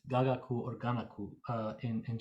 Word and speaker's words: gagaku: the gentleman actually mispronounces it's not giga quiz gagaku or ganaku uh in